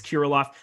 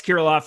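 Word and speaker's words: Kirilloff: back in the mix here eric's uh kiroloff man you'd think i'd be able to pronounce my own team's names here at this point in time but kiriloff a guy that a 60 out of 60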